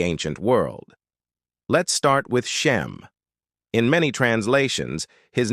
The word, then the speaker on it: Shem: Let's start with Shem. In many translations, his name is spelled shim, but it's pronounced shem.